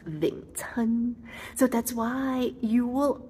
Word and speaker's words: Wing Chun: Wing chan in Cantonese is pronounced ving chan.